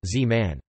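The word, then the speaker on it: זמן: it was silent, whereas the shva in zeman time, which was pronounced historically, is usually silent z-man.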